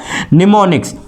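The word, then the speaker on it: mnemonic: और इन कमांड्स को in short कहा जाता था आपका निमोनिक्स, ठीक है। स्पेलिंग जो होती है वो M से स्टार्ट होती है आपकी, इसको हम कहते हैं निमोनिक, ठीक है।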